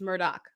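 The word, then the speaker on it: Murdaugh: scion of the murdoch it's murdoch it's spelled murdah but it's murdoch the murdoch family which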